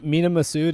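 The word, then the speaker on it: Mena Massoud: at some point is is it mina masood or me meena massoud is that how you say his name yeah i mean yeah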